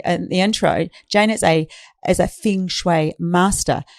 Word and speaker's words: feng shui: So feng shui is pronounced in a few different ways depending on the region where you're from. So it can be pronounced feng shui, feng shui, feng shui, just not feng shui.